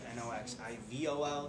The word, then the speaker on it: Noxivol: They changed the name to N-O-X-I-V-O-L, so it's still sort of pronounced Noxivol.